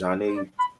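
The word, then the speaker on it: Zhané: Janae, pronounced Janae.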